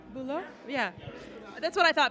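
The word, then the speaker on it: Bülow: Bulo?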